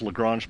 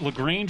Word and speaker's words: Lagrange: where those asteroids are is it lagrange or lagrange i think depending upon what part of america or the part of the world you're from it could be a different different pronunciation you know daryl reminds me all the time it's lagrange but if you're from the south it's probably something else i don't know but